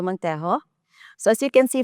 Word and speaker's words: Montejo: My name is Montejo. So, as you can see from my name, my first name has an English pronunciation, and my surname has a Spanish pronunciation.